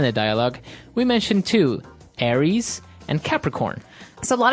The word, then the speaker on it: Aries: And so it's pronounced Aries. Aries.